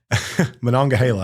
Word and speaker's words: Monongahela: Monongahela, I think is how you say it.